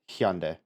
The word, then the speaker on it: Hyundai: It's actually pronounced Hyundai.